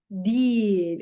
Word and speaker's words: değil: But guys, we write değil, but when you say it, when you pronounce it, it's değil. Let me write it for you. How you have to say it. You write değil, but you say değil, like a long E, long I sound.